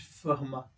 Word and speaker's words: Fermat: Na escola Pierre de Fermat, é assim que se pronuncia? Pierre de Fermat? De Fermat.